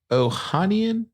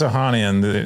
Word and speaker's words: Ohanian: His name is Alexis how do you pronounce it? Ohanian? Alexis Ohanian, the one of the original co-founders.